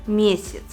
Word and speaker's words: месяц: видим яблоко высшим яблоко безударное я также как и безударная и произносится и слове месяц на месте буквы я мы говорим и и слышим звук и так как второй слой безударный месяц а в слове яблоко мы отчетливо узнаем звук я потому что ударение падает на первый слог правило номер три ударная